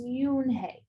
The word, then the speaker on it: Unhei: she nodded slowly yes it's pronounced yoon hey and it means grace mr kin added yoone